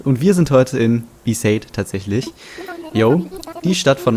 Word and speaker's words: Besaid: Und in der Cutscene wurde Bisade gesagt.